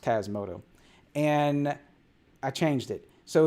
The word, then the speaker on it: Tasmota: And Tasmoto is always pronounced Tasmoto.